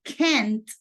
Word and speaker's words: can't: So can and can't, notice that we pronounce the T at the end.